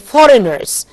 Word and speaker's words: foreigners: Locals again foreigners. G is silent here.